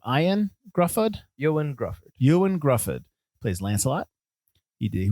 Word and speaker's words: Ioan Gruffudd: Ioan Gruffudd.